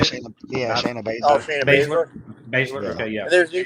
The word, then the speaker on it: Baszler: Baszler.